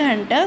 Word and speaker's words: junta: of Hunter so uh janta is pronounced as a Myanmar Hunter simply means military um